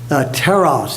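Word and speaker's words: τέρας: Teros is the word. T-E-R-A-S is the way we would spell it.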